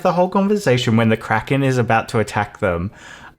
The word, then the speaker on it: Kraken: do you pronounce the Kraken properly. And it's like, Kraken. And he's like, actually, it's from the Scandinavian, so it would be Kraken.